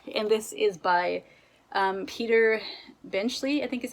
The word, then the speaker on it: Peter Benchley: is the deep and this is by um peter benchley i think is how you pronounce his name he is the author of